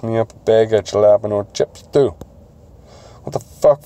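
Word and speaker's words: jalapeño: Fuck it, pick me up a bag of jalapeno chips too. What the fuck flavor is that? Jalapeno, Ricky. It's jalapeno, not jalapeno. Yeah, the age is silent.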